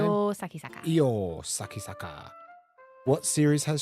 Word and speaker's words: Io Sakisaka: This is Aoi Sakasaka. How do you say her name? Io Sakisaka.